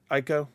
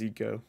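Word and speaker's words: Ico: oh this is a the girl right from ieko or Eco sorry it's actually pronounced EO some of them are a little hard to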